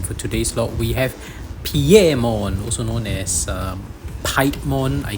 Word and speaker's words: Piemon: It's pronounced Piemon because of the Romanji that you can tell. And its origin of that name is spelled P-I-E, but it's not Pi, right? It's actually Piero.